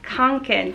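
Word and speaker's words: Kånken: how to say it it is theol robin konkin say it with me theol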